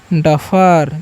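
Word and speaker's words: duffer: यहां पर यू का जो उच्चारण है ना अ करना है। ठीक है? और ई आर का भी अ करना है। ठीक है? तो हम इसे पढ़ेंगे डफर।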